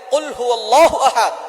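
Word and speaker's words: قُلْ هُوَ اللَّهُ أَحَدٌ: রাব্বুল আলামীন এখানে বলছেন কুলহু আল্লাহু আহাদ এখানে কফ দিয়ে পড়ছেন কিন্তু অনেকেই ভুল করে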